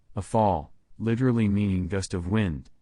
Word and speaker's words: Rafale: The Dassault Rafale, French pronunciation, a fall, literally meaning gust of